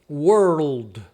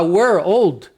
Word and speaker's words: world: Então world, olha só, aí você parece que você dobrou l você falou corretamente. Se você falar we're old, we're old, né, fica estranho, não é?